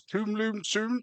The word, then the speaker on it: Tomlinson: For the record, my name you pronounce Tomlinson, so just in future, if you can stick to that, please.